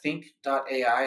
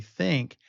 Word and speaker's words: Thynk: And then visit our website, think.ai, and it's THYNK.ai, so spelled just a little bit differently there.